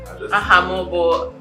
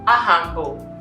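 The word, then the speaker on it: Aha m bụ: Ahamobo. Ahambo. Okay, I want you to speak Igbo. Okay, that's not how you say it. Say Ahambo.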